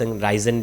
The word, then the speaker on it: ricin: तो इस केमिकल को राइचीन कहा जाता है और बहुत राइजन भी बहुत लोग इसे प्रोनाउंस करते हैं।